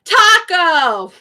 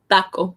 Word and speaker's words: taco: In English, we say taco. Taco, right? Taco. But in Spanish, it's taco. Taco. So my mouth is opener. It's closer to an O, but not quite.